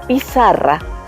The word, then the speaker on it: pizarra: En este caso, la debemos debemos de afinar nuestros oídos y y darnos cuenta que la sílaba que suena más fuerte es la sílaba sa.